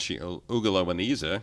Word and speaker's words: Ugiliweneza: Again, we're talking with Ugiliweneza, and Ugiliweneza, I said it right the second time, who is an assistant